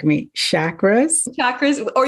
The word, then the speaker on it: chakra: Chakras? Chakras, or it's more of a harder CH, but people say it both ways, like chakra as opposed to chakra, but you hear it both ways.